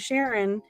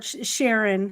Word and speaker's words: Sharon: um this lady named Sharon wrote to which rhymes with which rhymes with Karen of course um since